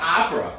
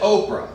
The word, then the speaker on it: Oprah: Like, for example, we know it's not Opera cuz all these years she's pronounced it Oprah.